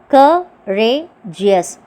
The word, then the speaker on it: courageous: Courageous. 3 syllables.